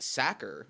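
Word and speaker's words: Sachar: pronouncing his name wrong it should be pronounced sacker like someone who tackles quarterbacks or someone who stuffs potatoes into sacks the job a sacker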